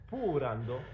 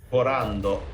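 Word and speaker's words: ポーランド: I know also that Poland in Japanese is something like purando, but it's Porando. it's similar to Portugal name. Portugal is Portugal, so Porando is Poland.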